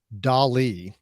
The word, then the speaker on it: DALL-E: So on that same OpenAI website, they also have a service that is called DALL-E, just like Salvador Dali, but it's spelled DALL-E or .E.